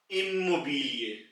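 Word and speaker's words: Immobilie: में यह वर्ड पहला इमोबि इमोबि वही आई की आवाज जो कि ई की थी वह इस वर्ड में इ मोबल बन जाएगी और इसका मतलब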